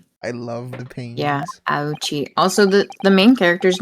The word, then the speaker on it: Auchi: It's pronounced ouchi cuz his descendants later on have the name uh Winston Payne and Gaspin Pain. That's so funny. I love the pain. Yeah. Auchi.